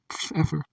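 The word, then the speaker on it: Pfeiffer: the picture number 13 Mr Feer the p is silent the first thing that hits my eyes is the Clift in M fe's chin I would see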